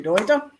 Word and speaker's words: Deuter: Deuter. Deuter, I think Americans would say. I say Deuter because I'm Deutsch and I'm pronouncing it properly.